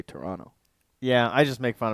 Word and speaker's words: Toronto: so that's weird uh I noticed that Americans say Toronto Canadians don't say the second T we say Toronto yeah I just make